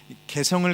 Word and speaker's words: 개성: 현대인들은 우리 다 마찬가지인데 개성을 강조하죠. 발음을 잘해야 돼요. 그냥 개성하면 안 되고 개성.